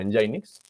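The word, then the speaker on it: nginx: otro servidor web que se llama engine ix se escribe así en el links como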